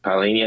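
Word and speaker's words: Palhinha: And uh Xiao Palinia, is that how you pronounce his name? Uh Palinia.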